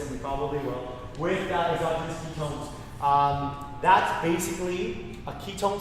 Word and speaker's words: exogenous: Exogenous, is that how you pronounce it?